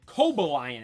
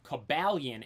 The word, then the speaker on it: Cobalion: at the end I thought it was called Kobe Lion at first maybe my reading skills just weren't that good back then but now I hear everyone say cabalian and that's how I pronounce it as well